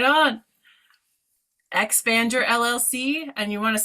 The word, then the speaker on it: Expandur: exactly those letters spelled I'm like expand your LLC like I'm thinking expand your LLC and it is right but you don't spell it that way it's X panned you are are like the text shortcut for your LLC I love it thank